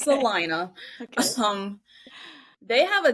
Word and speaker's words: Salina: so so it's pronounced salinaa Kansas the locals corrected me when I was saying Selena it's salinaa okay um they have